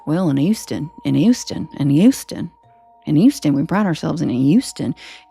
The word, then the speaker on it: Houston: to me is that no one in Houston pronounces H's, and they don't realize it. And they're like, yes, we do. I'm like, you literally call it Houston. Sounds like you're saying a Y.